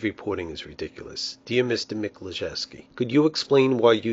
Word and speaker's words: Miklaszewski: his last name over at the Pentagon Jim meski on duty for us tonight Jim thanks for